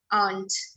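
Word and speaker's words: aren't: वी आंट enjoying the पार्टी एट ऑल, ARE apostrophe NT, आंट। वो आंट जैसा ही सुनाई देता है, वो सही है, पर लोग उसको आरंट बोलते हैं।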